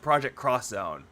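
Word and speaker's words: Project X Zone: see a game like project xzone it's actually pronounced project cross Zone I just want to know if it's like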